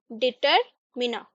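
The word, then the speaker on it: determiner: एंड 9th जो advance level में ऐड हुआ है वो है डिटरमिना, ठीक है। आर हम लोग उच्चारण नहीं करते, डिटरमिना।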